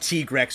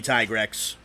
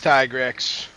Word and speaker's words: Tigrex: odd sometimes man it's the reason that it's pronounced tigrex over the states where it really should be tigrex it's tigrex and it's uh bracki dios yeah that's that's